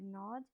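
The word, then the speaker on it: gnawed: where the animal had nod the g is silent node means to bite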